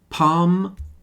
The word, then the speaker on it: palm: Palm calm tend to rhyme with farm.